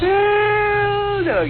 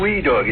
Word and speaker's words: well doggy: Well, doggy. You have to spell that right, you know. W-E-L-L-L-L. That's great. It's not wee doggy. It's well doggy.